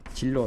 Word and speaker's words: 진로: 발음은 뭐 진로 소주같이 진로죠.